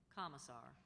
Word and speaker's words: commissar: Commissar.